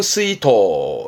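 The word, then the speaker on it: 水筒: 담는 물통을 수통 그럽니다 발음은 스이토 스이토 요런 정도 그리고 가끔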